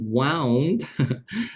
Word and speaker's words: wound: money next john had wound now this is a curious word wound is the past participle of wind okay in this case it's not pronounced as wind right had one the